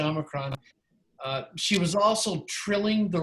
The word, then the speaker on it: omicron: Yeah, Nancy is coming across with a little bit of modern Greek pronunciation with the Omicron, which is fine. I say Omicron.